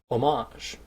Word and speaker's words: homage: However, the word we are working with today is deceptively spelled exactly the same, but pronounced homage. This is done by putting the emphasis on a different syllable.